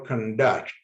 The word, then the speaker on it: conduct: Or for conduct, you highlight duct as a verb. Second syllable in the word conduct as a verb